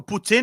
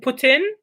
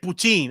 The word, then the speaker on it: poutine: the proper putin is the proper way of saying it in french it's put it put in okay here's a we're not here but in america it's like poutine i don't know if that's yeah you kind of anglicize it but yeah in french it's putin oh so poutine would be the anglo eyes yeah see i'm learning